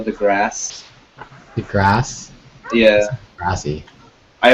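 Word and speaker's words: deGrasse: did you say Neil de grassy I learned today that it's actually pronounced Neil the grass the grass yeah grassy I always said the grassy myself as well it's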